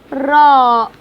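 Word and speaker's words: ر: Ra, ra in Arabic. How can I pronounce this letter? It looks like R in English. Yeah. When I say rabbit, ring, room. Okay.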